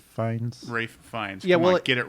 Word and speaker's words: Fiennes: uh michael sarah who will play robin okay pronounce rafe finds ray fines yeah we'll get it right okay well it's